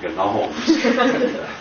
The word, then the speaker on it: gnomes: far as I know he was the only one that ever pronounced the G in gnomes we call them the Gnomes of Zur if you complain no